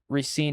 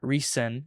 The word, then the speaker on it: RESCENE: That's the Korean pronunciation, so it's gonna be a little bit better. RESCENE is what I understand is correct.